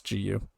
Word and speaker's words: Gu: Another man, Hao Gu, I'm sorry I got his name wrong earlier, it's Gu.